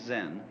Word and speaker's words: Zen: is Japanese pronunciation like Zen is the Japanese pronunciation of the Chinese Chan and uh the story